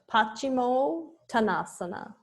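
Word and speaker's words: paścimottānāsana: so seated forward Bend and again we get that o so we have pachimo tanasana and om there's another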